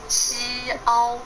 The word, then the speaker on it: Xiao: 菱 I think it's the easier with Chi-Chi to pronounce, and the last one. And one last good boy. 萧 xiao xiao 萧 Xiao.